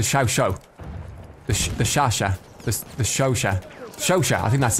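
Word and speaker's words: Chauchat: I haven't unlocked I've been told it's pronounced the Shosha.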